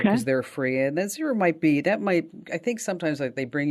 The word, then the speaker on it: Xero: It's spelled with an X, Xero, and that's free for small businesses.